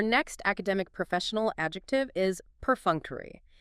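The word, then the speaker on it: perfunctory: Our next academic professional adjective is perunctery. P E R F U N C T O R Y. Per F2. Four syllables. Stress on the second.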